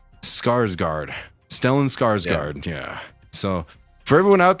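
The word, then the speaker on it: Stellan Skarsgård: The first name is Stellin. The last name is Scarsgard. Scarsgard. Stellan Scarsgard.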